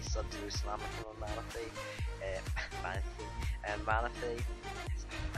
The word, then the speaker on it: Manaphy: Manaphy. I said it wrong again. Manaphy.